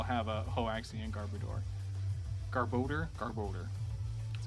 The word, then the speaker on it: Garbodor: Garbodor.